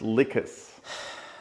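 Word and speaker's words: Lhykhis: I haven't bought pronounced licas. Lick ass.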